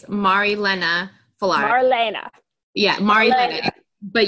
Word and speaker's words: Marilena Fallaris: So first of all, can you give me the correct pronunciations of everything? Absolutely. It's Marilena Fallaris.